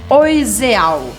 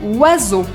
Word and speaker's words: oiseau: Se você ainda não souber nada de francês, você vai achar que precisa pronunciar todas as letras e vai querer falar alguma coisa como oiseal. Mas na verdade, em francês, a combinação de letras muda o som e essa palavra se fala oiseau.